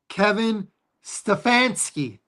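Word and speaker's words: Kevin Stefanski: Kevin Stfansky?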